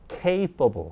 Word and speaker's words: capable: capable 그렇게 있습니다. capable. A는 힘을 싣고 여기는 힘이 빠지죠. 이렇게 리듬이 생깁니다.